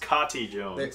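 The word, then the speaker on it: Kati Jones: kat jones so yeah there's been some debate as to how to pronounce this card's name some people just say katie and then uh i had heard from someone who'd met one of the designers of that card say that it's pronounced katie jones there was the official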